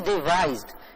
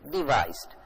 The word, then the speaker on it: devised: This is devised. It's a different spelling and it is pronounced in a different way, devised.